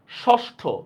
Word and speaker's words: ষষ্ঠ: এবার এখানে দেখেন এই যে ষষ্ঠ বা ষোড়শ, দেখছেন লেখছি আমি কি মূর্ধন্য ষ, কিন্তু উচ্চারণ করতেছি আমি তালব্যস্যর মতো।